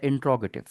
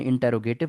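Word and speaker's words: interrogative: दूसरा जो हमारे पास सेंटेंस की टाइप है उसका नाम होता है इंट्रोगेटिव। इसको आपने इंटेरोगेटिव नहीं पढ़ना, इसकी प्रोनाउंसिएशन होती है इंट्रोगेटिव, सवालिया।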